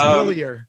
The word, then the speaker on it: Hillier: But it is Hillier, correct? It's Hillier.